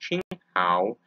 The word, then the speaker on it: Qing Hao: and precautions other uses and conclusions ching hao pronounced qing hao is a traditional chinese medicinal herb ching hao also known as sweet or celery wormwood latin